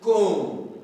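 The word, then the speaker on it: comb: oh don't proun the when you see be last in most english words don't pronounce be so we say now this is con con con take note of that this is this is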